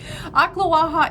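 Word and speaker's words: Ocklawaha: about it there's like that sounds like they're coughing something up akhla waha is just outside of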